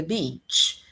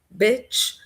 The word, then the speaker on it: beach: Então, bitch pode ser é um xingamento, né? de uma mulher, por exemplo, eh, pode ser uma uma prostituta, alguma coisa assim, right? Você não quer falar isso, ok? Você não quer dizer isso, OK?